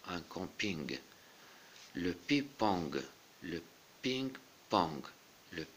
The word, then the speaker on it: camping: Un camping, donc ici on prononce le G, un camping.